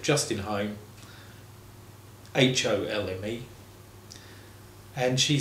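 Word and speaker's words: Holme: interesting, because my name's Home. It's pronounced Home, just like Home Sweet Home, and the home where you live, home where your heart is.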